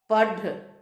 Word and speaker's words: पढ़: ढ पूरा बोलते हैं और पढ़ पढ़ में जो ढ आता है उसका उच्चारण पूर्ण रूप से नहीं होता है हल्का सा अंत में पढ़ और ढक्कन ढपली ढक